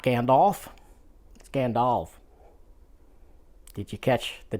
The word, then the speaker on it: Gandalf: is not smog it's Smaug and it's not Gandalf scandalf did you catch the difference uh apparently